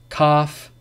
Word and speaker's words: calf: Calm, half, talk, walk, would, should, could, calf, salmon. So these are examples when the L is not pronounced. But remember, the rule is not pronounced after the vowels A, O, or U.